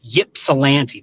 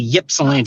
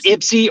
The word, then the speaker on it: Ypsilanti: I was saying so because everybody says if you're not from there it's Ypsilanti people say ypsilante it's Ipsy or Ypsilanti you can say either